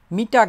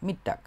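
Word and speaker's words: Mittag: যেমন দুপুর বলতে পারি মিটটাক মিটাক না কিন্তু মিটটাক এটা হইতেছে যেটা নুন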